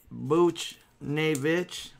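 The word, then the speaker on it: Buchnevich: a canvas pavel Buch Booch nae that's how you say it with the boots and the nae in the Red Wings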